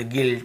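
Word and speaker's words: guilt: यदि किसी भी है ना ए इ आई ओ यू के पहले यदि आपको यू मिलता है तो फिर हमें उसे नहीं पढ़ना है। ऐसे पढ़ना है। गाइल, गिल्ड, गिल्ट, गिटार, guard, biscuit.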